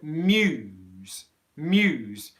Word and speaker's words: muse: together because muse muse you've really got to push that you through to get all the sounds here okay so i'd like